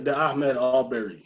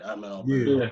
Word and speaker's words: Ahmaud Arbery: It was about the Ahmaud Arbery situation. Am I pronouncing his name right? Ahmaud Arbery.